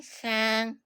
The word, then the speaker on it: Khang: Yeah, like my name like it's pronounced similarly like to the word can and then you add the sound at the beginning and like it will become a name.